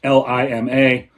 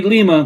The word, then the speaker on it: Lima: It's Lima. And because, Americans can't pronounce anything correctly and always have to change pronunciations, it should be Lima, but it's Lima.